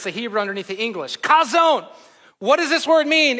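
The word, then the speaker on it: חָזוֹן: Some said kazoo, I think, right there. So here's how this is. It's pronounced zone. Zone. So you need to spit up a little bit when you say this. Kazone.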